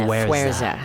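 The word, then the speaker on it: Fuerza: Fureza. Fureza. Fureza. How's that going? Just remember the word "where" is wedged in the Fureza.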